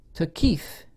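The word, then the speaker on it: Thaqif: the people in mecca and medina the banu to keith in taif because there can be names i'll spell it for the transcribers the b-a-n-u first word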